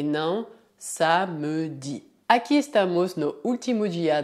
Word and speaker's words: samedi: Essa é uma palavra bastante simples de pronunciar, tendo como única particularidade que o E é geralmente mudo. Portanto, dizemos samedi, samedi, samedi. Podia haver exceções dependendo da região da França, mas a regra é dizer samedi e não samedi.